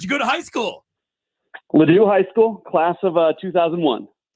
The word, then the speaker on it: Ladue: Not at Ladue, though. Which, by the way, my GPS pronounces as Lodway. Lodway.